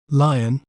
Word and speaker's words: Lyon: We may pronounce it as Lyon, Lion, Lyon. Lyon.